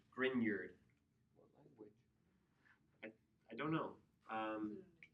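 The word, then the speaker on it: Grignard: It's actually pronounced more with a Y sound. Grineard.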